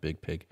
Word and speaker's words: Biig Piig: So I like to say Biig Piig when I read it, but every interview it's just pronounced Biig Piig.